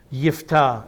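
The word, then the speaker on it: יפתח: this man named yet there's no J sound in the Hebrew language yifta is how a good a good Hebrew Jew would say his name but that is the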